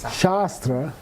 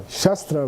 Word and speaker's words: shastra: end and short a sastra is a good example Shastra means classical sastra means a sword so yeah so if you don't pronounce they are correctly you say saw it when you want to say book okay so it's a